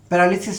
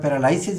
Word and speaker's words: paralysis: প্যারালিসিস শব্দটির সঙ্গে আমাদের পরিচয় আছে, প্রচলিত উচ্চারণে আমরা প্যারালাইসিস বলি, বাট ডিকশনারি সিদ্ধ স্ট্যান্ডার্ড প্রোনাউন্সিয়েশন হলো প্যারালিসিস। যেমন অ্যানালাইসিস বলি আমরা, সেটিও শুদ্ধ না, অ্যানালিসিস, ঠিক একইভাবে প্যারালিসিস।